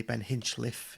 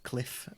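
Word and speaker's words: Hinchliffe: beninchliff our keeper Ben it's got to be pronounced correctly Ben hinchliff it's not Cliff as the commentators say which doesn't know his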